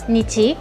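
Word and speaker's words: 日: el de sol, que en chino se dice R, ¿no? En japonés Depende. Depende del contexto, se puede pronunciar totalmente distintos. Entonces, por un lado tenemos, por ejemplo, se puede decir Nichi, que es para, que significa día, ¿no?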